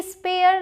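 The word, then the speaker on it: spare: आर ए आर ए रेयर एस सी ए आर ए स्केयर स्केयर स्केयर स याद आया sound S पी ए आर ई स्पेयर नहीं स्पेयर स्पेयर एस क्यू यू ए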